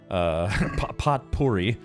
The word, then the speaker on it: potpourri: I basically have a pocket full of potpourri, potpourri, as it's pronounced.